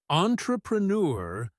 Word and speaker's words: entrepreneur: Entrepreneur sounds like entrepreneur with that French-style ending.